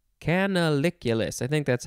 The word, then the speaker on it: canaliculus: Next is canaliculus. Canaliculus. I think that's how it is pronounced. C-A-N-A-L-I-C-U-L-U-S.